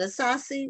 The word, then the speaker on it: Asase: okay and um your last name is it a saucy is the house pronounced yes that's awesome okay well I did